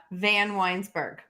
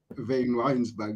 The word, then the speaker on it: Vanwynsberghe: to practice your name tell us how to pronounce okay van winesberg vayne Winesburg it doesn't look like that but anyway it's